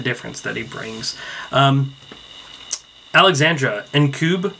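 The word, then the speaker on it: Ncube: Alexandra Nkube, or Nkube, I believe is how to pronounce her last name. It's N's, then Cube.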